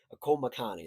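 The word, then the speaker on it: Akoa Makani: Komakani.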